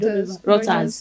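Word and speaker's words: Reuters: There is this international um uh routers R E U T R S give me the correct pronunciation right routers.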